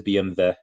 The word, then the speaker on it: BMW: it's BM Oh okay the German yes it is BMV not BMW um yeah I I